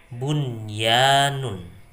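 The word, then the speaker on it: بنيان: Jadi cara membacanya yaitu dengan dibaca jelas, bunyanun ya.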